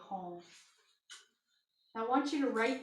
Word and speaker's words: Hum: Mani helps you reconcile your awareness to unconditionally accept your perfect divine nature in human form. You are of God and on the earth. Padme is spelled P-A-D-M-E.